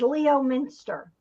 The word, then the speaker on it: Leominster: another trip to lemon mist lemon lemon stir Leominster lemon Minster lemons what's my new name for your town lemon Minister um we the way I remember is Leo Minster well that's the way it's written but apparently